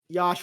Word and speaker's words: Yosh: I'm being told that Yosh rhymes with Josh in this case.